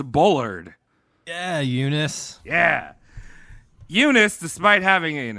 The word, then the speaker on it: Eunice: as ugly as that if you pronounce it properly which is you nice nice it's very bold